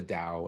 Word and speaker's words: DAO: people that aren't familiar what what is a dao in the first place i am i even pronouncing it right yeah you're pronouncing it